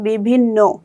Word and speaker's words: বিভিন্ন: তাহলে উচ্চারণটা হচ্ছে বিভিন্ন তারপরে আসি অন্য।